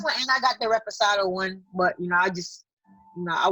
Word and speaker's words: reposado: I got this one and I got the Reposado one. But I just, I was taking shots with the Blanco. Reposado. Oh my God. Reposado. That's how you say it. Reposado. You gotta say reposado.